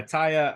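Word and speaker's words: Atthaya: of what I've been going with yes yeah ataya I mean she's just been uh unreal you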